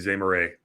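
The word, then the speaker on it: Zemurray: name of Samuel Zur I think that's pronounced it's Z Mur r a y so I'm gonna say it's Z Moray and be corrected later if that's all right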